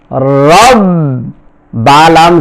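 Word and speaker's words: رب: র বা জবর রব র বা জবর রব বা লাম জের মিল রব্বিল রব্বিল আইন খারা জবর আ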